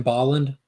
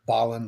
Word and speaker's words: Bolland: Because I know a lot of people call it Brian Boland, and that's not right. Brian Bolland, like Holland.